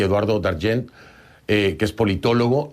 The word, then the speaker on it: Dargent: Dargent. No, pero yo no te quiero decir de todo. Eduardo Dargent, así es como se pronuncia.